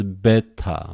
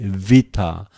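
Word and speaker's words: βῆτα: Vita In seminaries, they usually pronounce beta, but I prefer a modern way, vita, that is v, vita.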